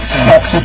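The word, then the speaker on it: Sochi: si chiama RSI Soci, ricordatevi che Soci si scrive S-O-C-H-I, quindi Soci praticamente, e c'è proprio, se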